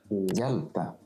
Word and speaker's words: hjelpe: All 4 of them give the same soft sound y. Gjøre. Yeah. Hjelpe.